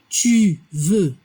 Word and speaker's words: tu veux: La prononciación tu veux. Igual que je veux, la X no se pronuncia al final. Él quiere, ella quiere.